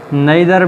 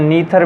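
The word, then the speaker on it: neither: ये हमारे पास नेदर भी हो सकता है, या इसको दूसरी प्रोनाउंसिएशन में नीथर भी कहते हैं, आइदर या ईथर भी इसको कहते हैं। हम इसको ईथर ही कहते हैं।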